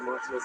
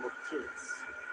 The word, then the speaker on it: Martinez: And for the Charlie Jenkins for pointing out that it's not Lenny Martinez, it's Lenny Martinez. It's his wife's maiden name, Martinez, and he pops it every time I say it.